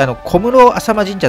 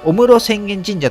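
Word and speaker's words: 御室浅間神社: 私さっき小室浅間神社と言ったんですが、御室浅間神社という読み方が正しいそうです。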